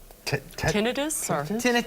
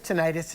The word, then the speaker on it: tinnitus: means you already have is it tinnitus tinnitus it's pronounced both ways but ringing ringing is